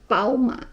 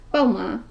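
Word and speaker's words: 宝马: Jadi makanya BMW jadi Pauma, bukan BMW tapi Pauma, 2 suku kata, nggak kedengeran kayak B kan, lebih mirip ke P, huruf P, jadi Pauma gitu.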